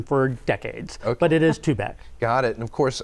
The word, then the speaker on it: Tubac: of Nogales on I 19 and the correct pronunciation is to back to back and it's been a subject of conversation for decades but it is too bad got it and of course again like I